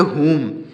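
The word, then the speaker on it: whom: मीस होता है किसको डब्लू एच ओ एम इसको पढ़ेंगे मम क्या पढ़ेंगे मम मम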